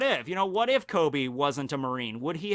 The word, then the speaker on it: Koby: But yeah, it's spelled with a K. It's Koby.